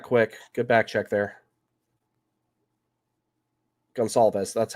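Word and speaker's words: Goncalves: Gonsalves. That's how that's pronounced.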